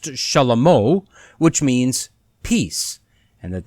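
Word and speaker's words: שלמה: So clearly we see that God told David that he would have a son and name him Solomon, which is actually pronounced Shalamo, which means peace, and that that son was to sit on the throne of Israel.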